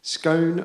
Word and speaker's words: scone: updating in real time scone rhyming with Gone So Gone rhyming with